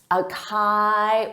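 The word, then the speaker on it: açaí: So they'll say Acai or Acai, but that's not it. It's acai.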